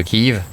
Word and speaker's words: Kyiv: De mon côté, j'essaie aussi d'expliquer que prononcer Kief au lieu de Kev, c'est la même chose que de dire Vichi, la fameuse capitale de la France.